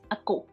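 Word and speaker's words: အကို: And the next one is go, go, so that it go, but we pronounce ako. Okay, it is spelled it go, but it's pronounced ako, ako.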